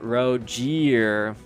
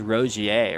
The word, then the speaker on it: Rogier: I was thinking earlier today pronounce his name Rogier. Yeah, I'm not really sure. I think the way you're supposed to say it is Rosier, right? It's like a French pronunciation.